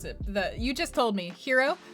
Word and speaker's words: gyro: You just told me, hero. The food is hero, but spelled with a Y.